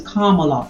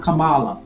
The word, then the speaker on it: Kamala: like KLA Harris yes her name is Kamala Harris not Kamala Kamala and the only reason